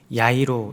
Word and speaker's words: 야이로: 하는 인물이 등장을 하는데요이 야이로는 어 히브리식 이름인 야이 헬라식 발음한 표현이 야이로 있니다 그 뜻은 어 깨달은